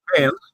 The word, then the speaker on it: Cairns: Is it Cairns or Cairns? I don't know how you pronounce it. Cairns, yeah.